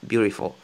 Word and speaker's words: beautiful: C'est un D en fait, mais qui ressemble à un R. Mais moi, pour faciliter la tâche, en fait, je dis R, beautiful. Juste en fait, pour, euh, pour prononcer comme les natifs.